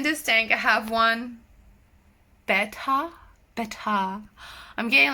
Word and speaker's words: betta: Betta, beta. I still don't know how you want me to pronounce it. Like, people write in the comments, you don't say beta, you have to say betta, but it's spelled the